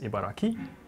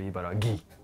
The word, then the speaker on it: Ibaraki: Yes, it's supposed to be pronounced Ibaraki, but a lot of people pronounce this prefecture Ibaragi.